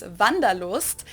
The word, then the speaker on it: Wanderlust: German word that we pronounce Wanderlust, and Oh, it's literally Wanderlust.